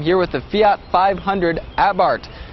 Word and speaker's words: Abarth: with the Fiat 500 abart it's spelled a b a r t h but the H is silent and the a is pronounced ah as in ah what happened to that